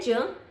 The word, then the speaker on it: Can: que era S E eu achava que era assim tipo assim essa pronúncia né mas é Jan então assim ai gente